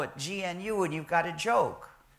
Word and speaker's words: GNU: and it will always be gnu so please pronounce the name gnu there's another erroneous pronunciation that people need to